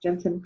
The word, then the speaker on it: Jentezen: Jentezen Franklin is how you say his name. It's spelled a little bit different, but Yep.